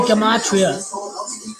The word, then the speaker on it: gematria: I have to pronounce it right, gematria, because Zach doesn't pronounce it correctly. It's been gematria the whole time.